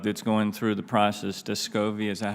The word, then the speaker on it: Descovy: O'Day, this new drug that's going through the process, Descovy, is that how you say it?